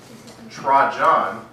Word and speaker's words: Trajan: Now, the year after the death of the Parthian emperor Mithridates IV, the Roman emperor Trajan, that's how you pronounce it, broke the Roman-Parthian peace treaty.